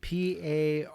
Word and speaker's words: Paranauts: So P-A-R-A-N-A-U-T-S, paranauts, like astronaut.